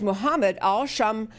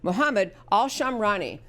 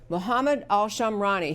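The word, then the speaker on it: Mohammed al-Shamrani: shooter his name is Mohammed all Shum I'm sorry I'm gonna say it correctly mohammed al sham rani mohamed al sham rani he is a Saudi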